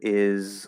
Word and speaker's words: is: But what we can do and what we do commonly do is, right, in the word is, it's spelled with an S, but it's a Z sound.